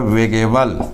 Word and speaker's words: weighable: मैं यहाँ लिख देता हूँ WEIGHABLE। इसका प्रोनाउंसिएशन होता है वेगेबल और इसकी हिंदी होती है मापने तौलने योग्य।